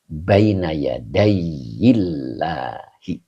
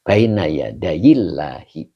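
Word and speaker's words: بَيْنَ يَدَيِ اللهِ: Jadi baina yadaiyillahi. Begitu bacanya ya. Jadi baina yadillahi begitu bacanya.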